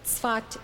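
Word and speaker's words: Safed: it is spelled sa Fe D but it's pronounced but he arrived in the city of thought in 1570 at that time thought was the home of a thriving spiritual community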